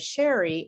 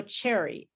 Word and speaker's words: Sherry: i used to say my name is sherry and they would say oh hello cherry and i would say i'm not a fruit and this is because